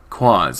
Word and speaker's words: Quaz: Quaz, a noun, both singular and plural, referring to anything strange, incongruous, or peculiar. At its heart it is the unknown, the mysterious. It rhymes with Oz.